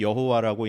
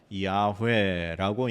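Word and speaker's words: 야훼: 이제 연구를 해보해하해하다 보니 아 이거는 여호와라고 읽는 거보다 야회라고 읽는게 더 정확한 발음일 거다라고 이렇게 된 거죠.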